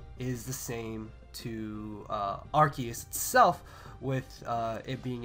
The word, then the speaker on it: RKS: who don't know uh the proper pronunciation of Rus is archus so R KS system archus system so I think that's